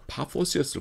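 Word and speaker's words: Paphos: 그래서 바보의 영어 철자를 넣은 것은 한국어 발음이 오해를 일으킬 수 있기 때문입니다. 뭔 도시 이름이 바보냐? 바보면 왔는데 원래는 파포스입니다. 파포스.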